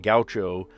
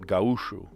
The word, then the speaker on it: gaúcho: See, I take issue with this word too, because I don't know what it belongs to, but you're probably saying it gaucho. I pronounce that gaúcho.